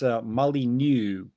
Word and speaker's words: Molyneux: Oh, just so that I'm pretty sure I pronounced that wrong. I believe that's Molyneux.